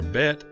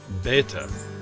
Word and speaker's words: Bet: This letter has a B sound, as in bed, or a V sound when it follows a vowel.